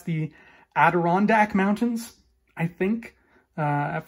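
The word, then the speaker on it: Adirondack: that we've got the I've always been iffy on how to pronounce this because I'm not from the USA but I think that's the adirondac mountains I think uh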